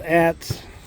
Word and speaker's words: adz: This is an old Atz without the handle. It's spelled ADZ.